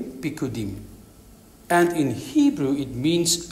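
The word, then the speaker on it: פקודים: Precepts is comes from the Hebrew word pikudim. You spell it P-I-Q-Q-U-D-I-M, pikudim.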